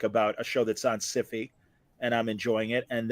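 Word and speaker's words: Syfy: I believe they're pronounced Siffy nowadays.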